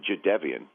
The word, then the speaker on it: Jadeveon: I just learned in today's New York Times profile is how you pronounce Jadeveon is Jadeveon, which I had no idea.